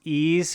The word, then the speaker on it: Ys: and I believe again I believe that's pronounced ease but it's the wise like y apostrophe S Series I don't know why